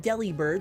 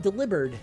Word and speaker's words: Delibird: Do you know, pronounce it Delibird, like Deli bird? Or do you pronounce it Delivered, like the pun on delivered?